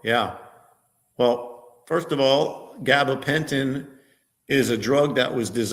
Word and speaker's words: gabapentin: And there are people who went to their doctor, and their doctor prescribed this gabapentin. Is that how you pronounce it? Gabapentin? Yes.